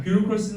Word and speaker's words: bureaucracy: 자, bureaucracy는 너희 처음 본 단어일 겁니다.